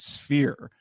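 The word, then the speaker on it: S-Phyre: think also like sunglasses always called it sire same same but he was saying that he's pretty sure the intended pronunciation is sphere which I said why yeah but why is there a Hy in there then yeah that throws it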